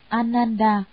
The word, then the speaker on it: Ananda: Ngài A Nan Đà, Ấn Độ đọc là Ananda, chữ Hán là Khánh